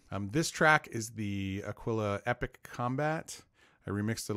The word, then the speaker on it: Aquila: only in text I was calling this world Aquila for the longest time because it just felt the most natural pronunciation of it for me but I studied Spanish apparently it's Aquila as in aquilin which describes the hook shape